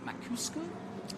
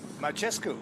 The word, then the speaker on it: Macescu: You've just been looking at, you're going to have to help me with the pronunciation. Macuscu? Macescu. Macescu, Yeah.